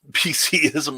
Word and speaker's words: PCism: Of course, I do not appreciate PCism, but because PCism rhymes with schism, and that's what it's creating.